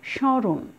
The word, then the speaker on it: স্মরণ: তো এখানে আমরা বেশ কিছু নিয়মিত মধ্যে পড়ানো হয়েছে, এখানে দন্তস্বরের জায়গায় তালব্যস্ব উচ্চারণ হবে, এবং এই স্বয়ের উপরে দেখো একটি চন্দ্রবিন্দু দিয়েছি, উচ্চারণটা হবে স্মরণ, একটু নাসিক্য।